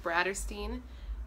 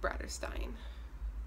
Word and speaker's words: Bratterstein: name is Brittany and my channel's name is pronounced Brad or seen not rather Stein Brad this is going to be my first